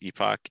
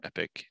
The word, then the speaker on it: epoch: going down um this epoch and so each epoch is taking or epic depending how you want to pronounce it it's taking like 30